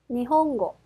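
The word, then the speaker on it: 日本語: 니혼고. 자, 그러면 악센트는 니혼고, 니혼고가 됩니다.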